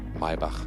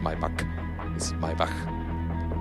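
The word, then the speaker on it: Maybach: the way yeah yeah you say my bach that's the german pronunciation not not my pack when you can pronounce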